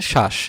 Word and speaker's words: শ্বাস: আরেকটা উদাহরণ দেখো, ধরো আমি এখানে লিখেছি শ্বাস, বফলা শুরুতে আছে, যেহেতু শুরুতে বফলা আছে সেক্ষেত্রে এটার কি হবে না, বফলার উচ্চারণ হবে না। হ্যাঁ, এটা তুমি কি উচ্চারণ করতেছো, এটা উচ্চারণ করতেছো হচ্ছে শ্বাস।